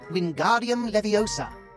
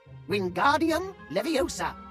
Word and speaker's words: Wingardium Leviosa: Its incantation is Wingardium Leviosa, just like this. Wingardium Leviosa. Pay attention to your pronunciation. It's Wingardium Leviosa. Remember, make the ga nice and long.